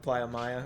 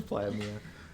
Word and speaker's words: Playa Mia: No, Playa Mia. Because he kept saying it wrong. Playa Maya. Oh. Playa Mia. It's Playa Mia.